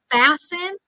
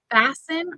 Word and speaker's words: fasten: how do you say fasten fasten remember that uh word has a silent T fasten your seat belt